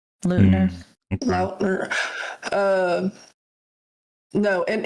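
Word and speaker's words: Payton Leutner: How would you pronounce that last name? Peyton Leutner. Okay. Lautner.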